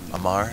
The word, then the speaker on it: Amar: Amar, yeah. I meant to say Amar, but that's okay.